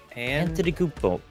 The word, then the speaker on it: Antetokounmpo: I had to learn how to pronounce it. Antetokounmpo.